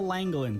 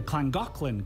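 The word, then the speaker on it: Llangollen: didn't touch the walls so this is The langin Canal at least that's how I read it but I learned the Welsh pronounced the double L's as CLA so it's actually pronounced the clangin canal all right this part seems simple enough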